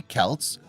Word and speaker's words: Celts: despite the romans belief the celts pronounced with a hard c or k sound were anything but barbarians